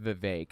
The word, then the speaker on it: Vivek: I haven't heard Vivek Ramaswamy, I'm sorry, his name's pronounced Vivek, I keep forgetting.